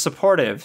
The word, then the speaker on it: Support Hive: Support Hive? You pronounce the last one as supportive.